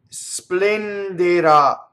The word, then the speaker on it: splenderà: Splenderà. Now notice this, the accent is on the A, right?